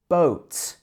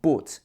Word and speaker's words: boat: Boat. It's not boat. It should be boat.